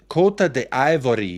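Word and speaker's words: Côte d'Ivoire: to say his name kot the ivory is how they prefer it but heaps of people say Ivory Coast I'm sure yeah that's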